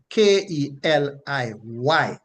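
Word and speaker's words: כלי: That root word is transliterated from the Hebrew to English as K-E-L-I-Y, and it is pronounced Keli, Keli, Keli, meaning something prepared, right?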